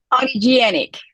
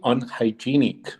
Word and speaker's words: unhygienic: how to pronounce that audienic I'm Jenny oh my God you can say it's not a genic okay okay it's actually unhygienic because it's hygiene hygienic thank you for the